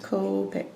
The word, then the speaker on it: Copic: blue and it's the name of this marker is copic it's the same copay from japan right copic copic copic and that's spelled